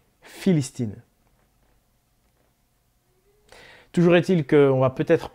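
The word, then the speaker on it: فلسطين: Vous savez d'ailleurs qu'aujourd'hui encore en arabe, pour prononcer le mot Palestine, en arabe, Palestine se dit Philistine.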